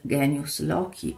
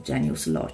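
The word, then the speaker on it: genius loci: rito e collegata al Genius locky o Genius Loi se si vuole utilizzare la pronuncia ecclesiastica Che cos'è il genius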